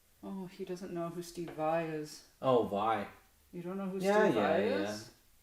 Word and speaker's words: Vai: I know it's spelled like Vay, but it's pronounced Vi. You know. I'll correct myself. Steve Vai.